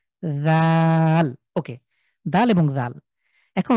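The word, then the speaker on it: ذال: তো যদি নোক্তা না থাকে তাহলে দাল, আর নোক্তা থাকলে এটা হবে জাল, পাতলা করে সার মতন উচ্চারণ, জাল।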